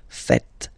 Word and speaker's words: faites: So remember, final S here is not pronounced, and then this is not pronounced either. So faites, faites. Vous faites. And ils, plural, font, final T not pronounced, font, font, elles font.